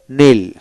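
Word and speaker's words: kneel: তারপর নীল KNWL নীল মানে কে উচ্চারণ হবে না, নীল হাঁটু গেড়ে বসা, নেল্ট।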